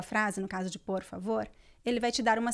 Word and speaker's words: favor: E a palavra favor, qual é a sílaba forte? Vor. A última. Vor. Vor, tá vor, certo. Tá certo. Favor, tá certo. Favor. Então, esse O, ele não pode mudar. A pronúncia é sempre O, não importa o sotaque, ele não pode ser pronunciado como U, porque é uma sílaba forte.